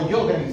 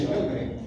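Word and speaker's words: Sjögren: Green se se pronuncia o yogremen también les dice síndrome de yogren, donde el paciente ni produce lágrimas ni produce saliva.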